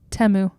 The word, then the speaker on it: Temu: three Teemu commercials which I guess it's not pronounced teu it's called temu really yeah that's how they said it really